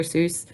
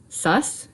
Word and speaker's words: Seuss: they had some Dr Seuss or Dr sus is how it's supposed to be pronounced I believe cuz it's supposed to rhyme with bus so I always say